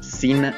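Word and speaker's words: Xena: Muy bien, vamos a empezar con esta gran, gran lista, con uno de mis favoritos, Sina, princesa guerrera. Y Sina, aunque suene así, lleva X.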